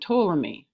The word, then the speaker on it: Ptolemy: start with someone named Ptolemy. The P is silent. All right, so Ptolemy was from Greek times, and this knowledge was really old. So Ptolemy promoted the idea that the universe was like an onion.